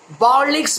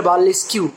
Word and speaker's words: burlesque: বার্লেস্ক বলে একটা কথা আছে, বার্লেস্ক, BURLESQUE। অনেকে সেটাকে উচ্চারণ করে বার্লেস্কিউ।